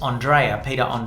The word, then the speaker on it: Andre: I went and I said, oh, I think you've spelt my name wrong. If you just take the A off, it's Andre.